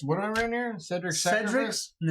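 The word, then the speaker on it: Sedric: Cedric's sacrifice? Cedric's, and it's spelled S-E-D, not C, so it's not like Harry Potter.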